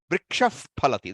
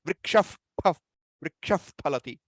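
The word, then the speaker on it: वृक्षः फलति: khadati, Ramah pachati, Ramah, vrikshaf phalati. That's the example I gave last time. That, where do you pronounce that? Vrikshaf phalati, Ramah pachati. That F sound is again from the lips.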